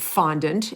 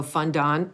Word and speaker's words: fondant: you're right and i i always pronounce it fondant and then there are some people that go fund on you know like you said it um and i think both ways are correct uh i believe but